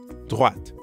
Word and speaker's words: droite: À droite. Notice that in droite, we're hearing the same oa sound as in toilette. Toilette. Droite. And make sure you're pronouncing the t sound at the end of droite.